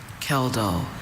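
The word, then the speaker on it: Kjeldahl: Kal. Are there any alternative pronunciations? I have only Kell. Kell.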